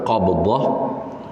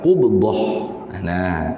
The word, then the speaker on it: qubdah: Tu kalau baca qabdah, kalau baca dengan fathah, baca dengan fathah kan qaf, qabdah itu maknanya segenggam. Itu maknanya segenggam. Tapi kalau kita baca dengan qubdah, itu dengan makna rentahan. Jadi bacanya hak betul, hak lebih tepatnya ialah qubdah. Qubdah.